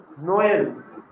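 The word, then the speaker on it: Noël: But when we are putting this trema, we have to pronounce this O and E separately.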